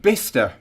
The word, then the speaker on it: Bicester: jeff it really is behind oh apparently it's pronounced bista so there you go we're both wrong the